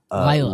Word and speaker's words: Lila: then yeah, Leela or like uh was it pronounced differently in the show? I feel like it was, and I did down the pronunciation. Lila. Lila, Lila, yeah.